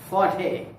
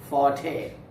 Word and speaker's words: forte: example cooking is my forte cooking is my forte or dancing is my forte not fort this is forte f o r t e and today we have